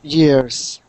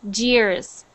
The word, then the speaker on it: years: Greenville next one year years good so be careful because sometimes when you're reading you say it like a j like Jers okay okay so just